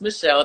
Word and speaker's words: Mychele: It's just Michelle, not Michele or Mychele or anything funky. It's just Michelle with a Y, because the Y is sometimes I in pronunciation.